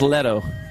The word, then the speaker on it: Leto: Graham I keep on I keep on pronouncing it like it's Spanish but it's not it's Leto yeah I keep on